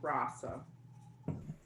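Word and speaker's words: Rossa: i love you but my new last name is pronounced rasa do not feel bad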